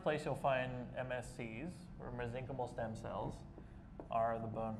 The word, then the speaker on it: mesenchymal: The most common therapeutic type of stem cell is called the mesenchymal stem cell. or if you want to say it quickly, mesenchymal. Either pronunciation is acceptable.